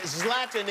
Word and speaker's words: Zlatan: at the stubhub center you want to see zlatan zlatan is the correct pronunciation yes love them thank you very much